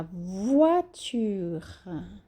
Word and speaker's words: voiture: La voiture. La voiture. O tchu é como se fosse tchutchuca. O R é bem pronunciado e o A é bem sutil, bem leve.